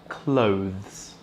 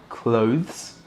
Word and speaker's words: clothes: And that word is clothes. Now, instead of saying it clothes, you can pronounce this like the verb to close, as in close the door.